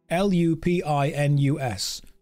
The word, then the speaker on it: lupinus: return to us again it's not spelled like Pine it's not look at the name of the thing l u p i n u s lupinus SES lupinus drain fatigue